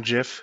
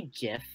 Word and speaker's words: GIF: And he was like, no, it's a GIF, it's a G. And I'm like, have you ever heard of soft G's? They can make the J sound too.